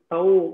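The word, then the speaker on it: तौ: Tau will rhyme with Balakau.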